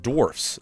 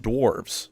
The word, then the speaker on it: dwarfs: First is that it's pronounced dwarfs, not dwarves.